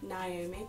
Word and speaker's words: Naomi: and yes the the nurmi looks like naomi but it's pronounced naomi and the doesn't